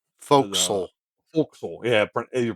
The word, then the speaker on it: forecastle: the uh the forecastle or the the folks. Folks, yeah, your pronunciation is correct.